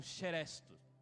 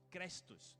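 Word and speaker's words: χρηστός: E no Novo Testamento, a palavra benignidade, ela traduz o termo grego como cheresto. Crestos, alguns pronunciam assim.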